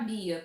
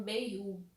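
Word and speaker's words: Beyah: Então, pra mim era Bia. Eu tava lendo como Bia. Até que a própria personagem vai e pronuncia o nome dela, ela diz que se pronuncia como Bei-yu.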